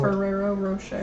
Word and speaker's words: Ferrero Rocher: that tell me what ferrero rocher ferrero rocher okay like ferrari but ferrero that's what i was